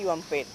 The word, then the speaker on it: Juan Pérez: Es Juan Pérez con N y al final no tiene Z. Y se pronuncia Joan Pérez.